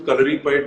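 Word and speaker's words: Kalaripayattu: so, calorie pad, Hrithik, I'm so proud of the fact that you said the name correctly because in India, I Thank don't you. see many people saying it right.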